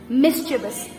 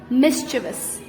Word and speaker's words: mischievous: mind this word this has this word is pronounced wrong so many times mischievous mischievous mischievous mischievous means when a child is being